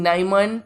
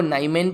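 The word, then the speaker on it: Niemann: यह जो डिसीज है ये डिसीज को कई अलग-अलग तरीके से प्रोनाउंस किया जाता है जैसे कि कोई इनको नाइमैन बोलते हैं कोई उनको निया मेन बोलते हैं ठीक है लेकिन अपने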